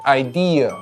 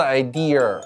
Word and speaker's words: idea: idea 不是 idea，没有儿化音，英音美音都不儿化。